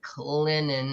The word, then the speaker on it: Clinton: most people pronounce it Clinton Clinton Clinton yeah Clinton Clinton for the t is silent but it sweet baby